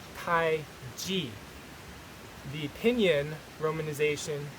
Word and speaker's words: Taiji: still see t-a-i-c-h-i as the common spelling for tai chi but it doesn't really give you an accurate representation of uh the pronunciation because it's not pronounced tai chi it's pronounced tai g the opinion romanization t a i j i